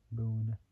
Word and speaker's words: Boone: Then we got Mark Boone Jr. So Mark Boone Jr. Boone is spelled B. It's like saying the word boo, but adding the letters N and E.